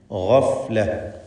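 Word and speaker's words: غفلة: ഗഫ്ല. ഗൈന് പൂർണ്ണമായ തഫ്ഖീം കൊടുത്ത് ഉച്ചരിക്കുക.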